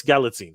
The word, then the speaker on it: Galitzine: It's Galitzine. Galitzine. Nicholas Galitzine. Galitzine. Okay, Galitzine. Yeah. I'm gonna get it right. Okay, Nicholas Galitzine.